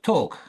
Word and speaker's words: talk: We don't say that L. Silent letter, right?